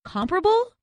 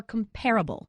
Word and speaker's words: comparable: to talk about comparisons is it comparable or comparable it's comparable thank you I say comparable I hear people say comparable all the time if